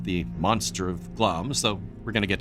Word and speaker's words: Glamis: Glamis Castle, yes, the I isn't pronounced actually, is in eastern Scotland,